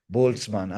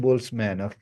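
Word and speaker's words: Boltzmann: DNN restricted boltzman machine boltzman is a German word okay that's why I'm pronouncing it German boltzman okay I'm not saying boltzman so this is anyhow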